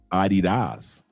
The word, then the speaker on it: Adidas: Adidas. The proper pronunciation.